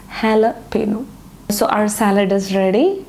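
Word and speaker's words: jalapeño: It is actually jalapeno. It is not jalapeno, it is jalapeno.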